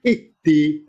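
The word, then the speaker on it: اهدِ: Kalau ketiga kasroh, alifnya ikutan kasroh. Ihdi. Nah, itu bacanya.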